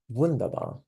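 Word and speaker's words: wunderbar: it right good enough the German vaba not really vunda it's more vundabar not vundabar uh I just can't get over the fact that in German you have to say it like this vundabar very important it doesn't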